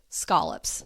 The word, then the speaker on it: scallops: Excuse me, scolops. That is the proper way to say it, as my New Englanders have showed me.